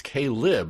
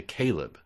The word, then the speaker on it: Kaileb: I mean, yeah, I'm familiar with the name Kaileb, but there's an extra I in there, so we got to, all we could do is pronounce it as written. And it's Kaileb, right?